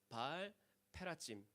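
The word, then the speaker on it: בעל פרצים: 봐야 운율 즉 라임이 맞습니다 바알브라심 a 히브리 발음은 발 페라지 페레츠 페라지 뭐 그들 입장에서는 이게 이제 운율이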